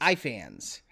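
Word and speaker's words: Ifans: rice and then i is it e fans or i fans i fans reese i fans i'm not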